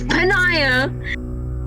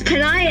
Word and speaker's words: Panaya: it who was me it's pronounced Panini no it's it's panaya okay it's panaya and I do not